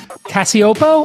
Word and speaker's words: Cacioppo: I thought I would bring Christina Cacioppo. I pronounced it correct.